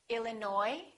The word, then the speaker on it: Illinois: say cupboard my kitchen cupboard silent s Arkansas Illinois Island debris all right one more silent W